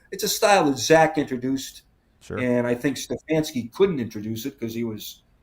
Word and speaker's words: Stefanski: It's a style that Zach introduced, and I think Stefanski couldn't introduce it because he had no quarterback.